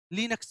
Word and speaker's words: Linux: क्या पढ़ेंगे लाइनेक्स पढ़ेंगे, बट इसको लाइनेक्स नहीं बोला जाता। इसको क्या पढ़ते हैं हम लोग, इसको पढ़ते हैं हम लोग लिंक्स पढ़ते हैं। जबकि ऑपरेटिंग सिस्टम की जो स्पेलिंग होती है LINUX, इसको क्या बोलते हैं, इसको या तो हम लोग लाइनक्स बोल देते हैं, या फिर इसको क्या बोल सकते हैं, लिनक्स बोल सकते हैं।